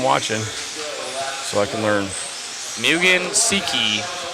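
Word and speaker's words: Mugen Seiki: so I can learn mugan Seiki is the way that I was learned to pronounce it thank you Matt I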